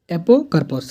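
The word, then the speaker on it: apocarpous: को सेपस बोली को ता पर तुम एपरस एपोकार्पस सॉरी प्रोनाउंस मिस्टेक एपोकार्प को फ्री कार्पेल और फ्स्ट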